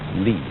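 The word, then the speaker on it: 理: wood, or the fiber in muscle, and it's pronounced li.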